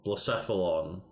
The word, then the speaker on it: Blacephalon: I can look for it, but I don't know how to fucking pronounce it. Blacephalon.